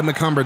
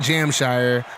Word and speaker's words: McCumber: And yes, that is how you pronounce his name, Josiah McCumber, not Jamshire.